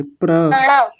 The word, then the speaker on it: प्रणव: पड़ा मत बोलिए, सुनिए, पड़ा नहीं, प्र बोलिए, प्रणव।